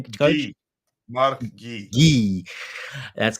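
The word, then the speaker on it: Guiu: Guy. That's correct. Guy.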